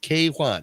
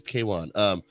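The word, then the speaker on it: Quan: How do you say his name? K-Wan. I think it's K-Wan.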